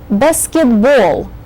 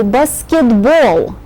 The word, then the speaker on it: basketball: Notice that all the games that have the ball syllable in them have the accent on that syllable. So you say basketball. You have to save your breath for the very last syllable in this word, which carries a very strong accent.